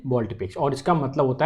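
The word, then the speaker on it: volte-face: इसे एग्जैक्टली अगर मैं बात करूँ प्रोनाउंसिएशन के फॉर्म में तो वो होता है बॉल्टी फेस बोलते हैं इसे। क्या बोलते हैं? बॉल्टी फेस।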